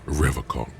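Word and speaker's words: Revachol: for Revol he pronounces Revol with a hard K unlike other people I like to pronounce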